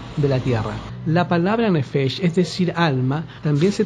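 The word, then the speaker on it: נפש: y versículo 7 en el hebreo, y se pronuncia nefesh, y significa o designa al hombre quien llegó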